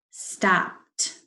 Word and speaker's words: stopped: after my long day stopped stopped it's spelled e d but it's making the t sound padded i petted the